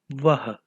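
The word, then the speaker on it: वह: In Hindi, the word for he or she is vah. Vah. Both of the A's are understressed while pronouncing the word.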